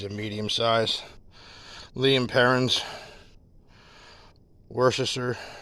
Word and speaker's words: Worcestershire: Liam Perrin's Worcestershire sauce, Worcestershire. Those of you who like to use every syllable.